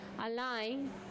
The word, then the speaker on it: align: Align. G silent.